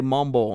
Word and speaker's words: Mambo: It's spelled Mambo, but they say Mumbo.